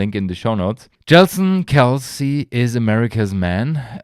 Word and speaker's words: Kelce: For me, it's Kelce. So it's right. The real Kelce brother, Jason Kelce. So basically, even the Americans don't know how to pronounce it, and it should be Kelce, depending on history, but Jason said, I say Kelce, so call me Kelce.